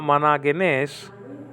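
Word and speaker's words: μονογενής: Managenes. Okay, managenes. That's the grab marker. That's pointing the other way to around 5 o'clock. And so you drop the pronunciation at that syllable. Managenes. Managenes. Monogenes, or mu, omicron, nu, omicron, gamma, epsilon, nu, eta.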